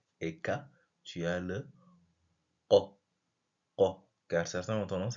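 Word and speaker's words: قَ: Ensuite, là, on a le qa. Qa. Qa. Certains ont tendance à dire que, par exemple, pour la prononcer correctement, c'est comme si on t'étranglait.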